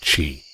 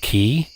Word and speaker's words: Qi: You actually pronounce it Chi. Q-I. Chi. But everybody else pronounce it Key. Even then, like, Eric pronounced it like, he pronounced it like Kui. And it's like, if you're trying to base it off of like the Chinese, then it's Chi.